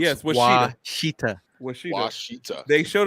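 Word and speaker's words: Ouachita: Washita. That's good. Never Will, heard Will of it. said Will said it's pronounced Yes, Washita.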